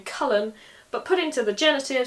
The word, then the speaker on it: Chulainn: Now you'll notice that with this name, as with many others, where there's more than one syllable, the emphasis is on the first syllable. Cullen, not Chalain.